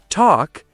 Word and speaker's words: talk: Silent L. Calm. Say cam. Half. Say half. Talk. Say talk. Silent L happens a lot. Learners often over pronounce it. But if you want to sound natural, just skip the L.